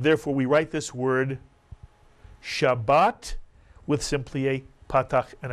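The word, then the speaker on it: שבת: This is the word Shabbat, Mitsuyan. I'll remind you it has two vowels, therefore it has two syllables.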